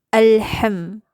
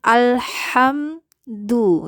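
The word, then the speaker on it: الحمد: sehingga pengucapannya harus membuka rahang dengan sempurna, karena nanti akan terdengar seperti alham, seperti alham. Nah ini hati-hati ya, karena tidak sempurna dalam melafazkan karakter hurufnya, jadi tidak muncul itu genetika hurufnya. Jadi tetap diucapkan alhamdu ya, alhamdulillah.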